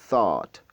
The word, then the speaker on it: thought: Alors, le cinquième mot, c'est thought. Thought. Thought, la langue placée entre les dents. Vous essayez de faire sortir de l'air de votre bouche.